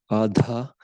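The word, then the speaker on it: Ardha: Actually, I should pronounce that properly. Ada. So the the letters in are a da adha.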